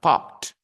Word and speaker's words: popped: If you have a verb with ending with p sound, for example, pop. Okay. And then you add ed and you pronounce popped.